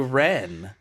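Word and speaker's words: Rennes: Because as he's saying that, Quentin keeps calling him Renz. And the guy's like, my name's not Renz. Oh, yeah. It's Ren. It's French. You don't pronounce the S at the end.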